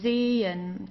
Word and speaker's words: sehen: So here, sehen, okay? So we don't say sechen or sehen or so. We don't pronounce the H at all. It just has the function to stretch the E.